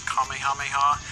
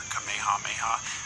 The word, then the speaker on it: Kamehameha: differently over the years some pronounce it as kamehameha kamehameha and others have said kamehameha apparently that is the more correct way to say it I'm sure I'm gonna